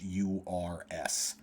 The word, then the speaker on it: Uyghur: They are a Muslim people in China, and it's spelled Uyghurs.